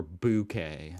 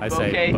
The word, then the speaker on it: bouquet: Oh, bouquet or bouquet? I say bouquet, but like a soft O, bouquet. Here in Australia, they would pronounce it bouquet. A bouquet of flowers, bouquet.